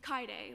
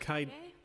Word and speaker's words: Kaide: It's Kaide, like Kaide.